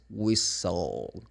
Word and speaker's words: whistle: No, it's whistle. Exactly. The T is also silent in this word.